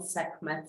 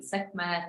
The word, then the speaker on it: Sekhmet: So if you find me a little sometimes saying Sekhmet and then Sekhmet, there's different pronunciations, but the proper way, I believe, is the guttural het, So she is, and